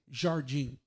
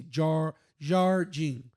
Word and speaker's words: Jardim: like I don't know, like in the center west, they say Jardim. Yeah, they say the R like heavily. They say Jardim, but like in like the southeast where I'm from, we don't pronounce the R's, so it's Jardim.